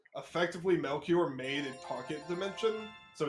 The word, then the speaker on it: Melchior: And now we got Melchior. There we go. That's how you pronounce it.